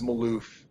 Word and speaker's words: Malouf: name of the company the company's name is Maloof we couldn't get the domain it's owned by